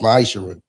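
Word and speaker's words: מעשר: Means 10 in Hebrew and it's pronounced ma'aser.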